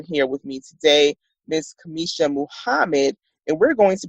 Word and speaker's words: Cameasha: you so I want to make sure I'm pronouncing your name correctly that Kamisha yes it is okay perfect thank you so